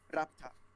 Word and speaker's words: Laputa: I usually just say Laputa's got like Lopta, like keep the U silent, and like how they say it in Japanese. What do they say in Although Japanese? I'm almost afraid to ask what they say in Japanese. no, they say it as Rapta.